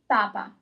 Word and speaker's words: papa: So the first two words are papa with the accent, papa, and the second one is papa. Listen to the difference.